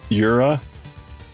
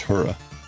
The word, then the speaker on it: Jura: can it's just fine the German pronunciation of it sounds like you are wait but it's that Yura you are you're everywhere